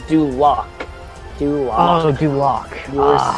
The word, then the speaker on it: Duloc: Dulot. Ooh. Pronounce it again? Dulot? No. Dulot is incorrect. It is Duloc.